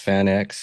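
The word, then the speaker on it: FanX: It's uh it's pronounced Fan X.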